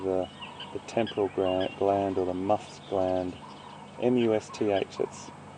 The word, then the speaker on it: musth: temporal gland or the musth gland. M-U-S-T-H, that's spelled, everyone. M-U-S-T-H. It's a little bit of a mouthful. Musth. So you say the M-U-S, mus, and then th at the end, musth.